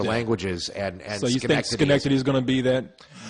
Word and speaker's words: Schenectady: It's Schenectady, New York, and that's how it's spelled.